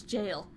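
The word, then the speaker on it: gaol: in the goal jail why do i keep thinking that's pronounced gold it's jail the ones who hadn't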